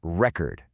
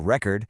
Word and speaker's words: record: Let's take the word record. When it's a noun, like a vinyl record, we stress the first syllable. Record. That e is a full e sound. But when it's a verb, to record something, the stress moves. Record. Did you hear that? The first vowel just collapsed into awah.